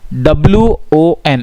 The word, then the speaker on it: one: है, ओ वॉवल है, लेकिन वन की जो प्रोनाउंसिएशन होती है वो कैसी होती है, वन, WON ऐसे बोलते हैं हम, वन। तो इसका जो साउंड बन रहा है प्रोनाउंसिएशन का वो W का बन रहा है, और W क्या है, कॉन्सोनेंट।